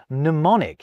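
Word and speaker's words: mnemonic: The same goes with words like pneummonic. You can't kick off an English word with a min. You just can't. So, we skip the m.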